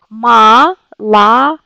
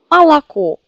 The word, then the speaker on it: молоко: Vous voyez, il y a trois O, mais c'est une seule O qui se prononce comme O. Cette O, parce que c'est accentué. Malako. Malako.